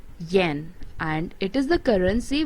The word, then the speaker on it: yen: fourth one is gen it pronounced yen and it is the